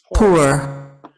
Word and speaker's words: pour: Y sonó más tirándole a U, ¿no? Es una entre O y U. Pour.